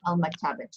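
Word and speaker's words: المكتبة: The only difference there is that tamarbuta at the end, but you have to pronounce it as a two. Okay, al-maktabatu.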